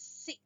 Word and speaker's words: sick: s not like that it's only one C sound sick sick when you